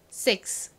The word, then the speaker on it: six: Six. 좋습니다. 이 S의 뒤에 자음이 아니라 이렇게 I와 같은 모음이 오면요. S가 좀 세게 발음 나요. 그래서 그냥 six보다는 거의 six 이렇게 쌍시옷처럼 발음 납니다.